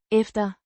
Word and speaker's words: efter: efter, Means after, pronounced efter, ef-ter, with a soft t, sound.